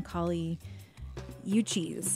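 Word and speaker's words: Kali Uchis: that we heard from Kali you choose I think is how you pronounce her name she's a colombian-american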